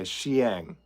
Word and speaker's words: Xiang: a twitch thing okay Xiang two syllables okay I've seen that name in print a lot but I've never really heard it spoken aloud so Xiang got it I'm sure I didn't